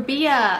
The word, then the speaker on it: Rabiya: Rabia.